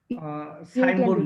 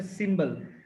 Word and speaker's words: symbol: সাইম্বল না, সাইম্বল না, উচ্চারণটা হচ্ছে সিম্বল।